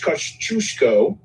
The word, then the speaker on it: Kościuszko: The latest one is Tadeusz Kościuszko, and I know I pronounced that right because I had to do it over and over until I got it right.